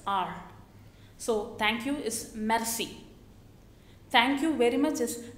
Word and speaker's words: merci: say Maxie see when the French people they pronounce the alphabet are they give a lot of stress are so thank you is merci thank you very much is merci beaucoup merci beaucoup and when somebody says thank